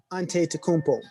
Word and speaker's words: Antetokounmpo: europe in 2020 tyrique hill and uh giannis antetokounmpo he's so dope i had to learn how